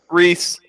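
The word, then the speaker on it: Rhys: His name is John Rice Davies. Reese. Is that how you would pronounce that? Yes, it's John Reese Davies.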